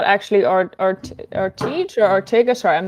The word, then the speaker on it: Ortege: So Matthias says, when you say this, does that mean it's not actually Ortege or Ortega? Sorry, I'm not sure how I pronounce it. It's pronounced Ortege. It's actually Ortege.